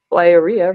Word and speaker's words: Liara: with an Instagram page Liara rhymes with diarrhea I was there I